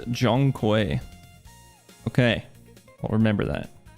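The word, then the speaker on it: Zhong: I think Zong is pronounced a Jong.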